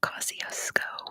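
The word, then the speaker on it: Kosciuszko: awesome it is Mount coosco good job too Alex it is Mount Kosco which yes that's how they pronounce it in Australia Mount Kosco M actually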